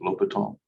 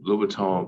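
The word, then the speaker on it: L'Hôpital: And this is the way you pronounce this is L'Hopital. I'm sure I'm also butchering it, but it's a French guy's last name, whatever, right?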